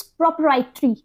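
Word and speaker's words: propriety: Next word is इट्स प्रोप्राइटरी। देखिए उसमें और इसमें थोड़ा सा प्रोनाउंस में डिफरेंस है, वो प्रोप्राइटरी था, ये क्या है, प्रोप्राइटी।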